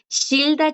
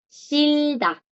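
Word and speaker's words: 싫다: Shilda, chicos, es el verbo odiar. Shilda. Aquí la J, como pueden ver, no suena. ¿Por qué? Porque está como bachim. Shilda. Y aquí la R suena como L.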